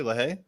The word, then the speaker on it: LaHaye: So, Felix LaHaye, am I saying it correctly? LaHaye?